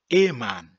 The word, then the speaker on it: Ehemann: Il y a d'autres aussi qui prononcent juste le EH. EH, donc c'est devenu E. Le E qui est là, on ne le prononce pas, on dit man. E-man. E-man.